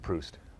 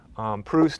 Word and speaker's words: Proust: I think it's pronounced Proust.